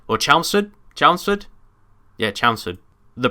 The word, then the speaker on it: Chelmsford: Yeah, Chelmsford. The pronunciation of the name. But then I thought Chelsea. It must be Chelmsford. Anyway, and I think someone said that to me once. Say it like Chelsea.